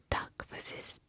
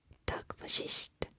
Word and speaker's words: takk for sist: And then last, but certainly not least, is takk for sist. Takk for sist. You can also say it like takk for sist.